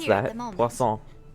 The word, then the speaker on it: Poisson: Poisson. Like croissant.